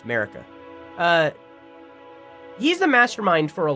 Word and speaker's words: Marika: I have not said America a single time. That's how you say her name. It's Marika.